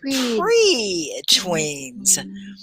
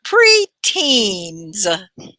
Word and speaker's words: preteens: the other word is pre-tweens pre-tweens pre-teen it doesn't have the w i was saying it wrong preteens preteen so these are